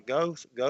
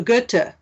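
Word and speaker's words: Goethe: false that was by go go am I saying that right go g o e t h e false oh yeah g gut G that's how you say it gut gut you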